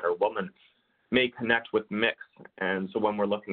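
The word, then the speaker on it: Mx: you might start seeing it's pronounced mix spelt and x and for example where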